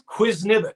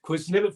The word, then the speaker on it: Qwiznibet: unique how did you develop that i probably mispronounce it every time i say it say it no you say it it's quiznivit quiz nipit foods and that's came from that poem that